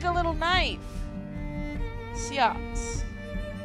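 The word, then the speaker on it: seax: Siaks. Old English pronunciation is also sax.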